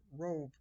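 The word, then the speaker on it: רֹב: and in plenty so this word plenty is the word rope but it is spelled like rob so rob row and it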